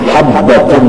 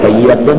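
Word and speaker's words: حبة: Gara-gara kita tidak disisih, yang betulnya habbatun sauda, cuma si gagah bagawi menambahi titik sedikit, lalu hayyatun, padahal bacanya habbatun.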